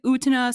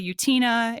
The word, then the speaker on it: Utena: Some people say Utena, some people say Utina.